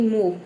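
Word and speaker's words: move: ठीक है तो देखिए जब किसी वर्ड के अंत में ओ के बाद क्या हो व ई हो तो वहां पे ओ लेटर को हम क्या प्रोनाउंस करेंगे उ प्रोनाउंस करेंगे जैसे कि मूव मूव में आप देख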